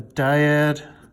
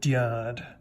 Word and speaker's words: dyad: on the board and he pronounced it dad like a like a valley girl saying dad like Oh God come on